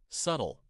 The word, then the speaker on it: subtle: Word 13, subtle. S uh H2. Subtle. Notice the B is silent.